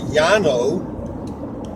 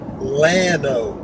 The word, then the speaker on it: Llano: It's double L-A-N-O, and double L in Spanish should be pronounced Y, it should be Llano. However, the English people that speak and people that live here call it Llano, not Llano like it should be.